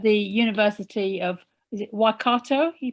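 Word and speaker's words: Waikato: associate professor at the university of is it wakato you pronounce it yes yes thank you yeah and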